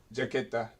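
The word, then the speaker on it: chaqueta: I mean, it's jaqueta. I think I said. Did I say chiqueta? I may have said jaqueta. No, you said jaqueta. That's jacket in Spanish. You said jicata.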